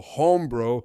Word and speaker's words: hombro: Also, in Spanish, the H sound is silent. So hombro is pronounced hombro.